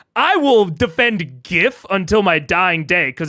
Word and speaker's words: GIF: like I will defend GIF until my dying day cuz it's graphical user interface but uh or graphical interface format or whatever it's graphical the G is graphical G GIF um so I'll defend